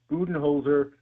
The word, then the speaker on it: Budenholzer: using it on a daily basis he said buen holer is the correct pronunciation see that's like our family they we